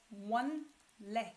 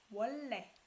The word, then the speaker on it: 원래: You don't pronounce it as 원래. It's hard, right? You pronounce it as what? 원래.